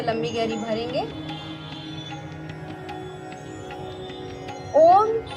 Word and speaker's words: ओम: ओम को सीधे ओम नहीं कहते हैं, इसे ओम का उच्चारण करने के लिए अम का उच्चारण करते हैं, ओम। और जो अ और उ का उच्चारण होता है वह 1/3 होता है, और म का उच्चारण जो है वह 2/3 किया जाता है। तो कहने का तात्पर्य ये है कि अ और उ का उच्चारण हम थोड़ा कम करेंगे और म का उच्चारण को हम ज़्यादा खींचेंगे।